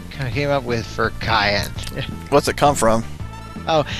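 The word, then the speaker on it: Cyan: of a hundred men the name is actually pronounced cayenne by the way i was pronouncing it zion yeah i did that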